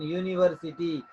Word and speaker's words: university: It is a university because here you see the word pronunciation university. You, yaako miste you. It is consonant sound.